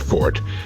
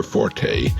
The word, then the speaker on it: forte: strong points our fort incidentally that's pronounced fort never forte as the uninformed would have us believe forte is an italian musical term what is your fort